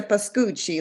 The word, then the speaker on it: Biscucci: last name Marianne yeah it's a biscucci like Gucci there we go Laura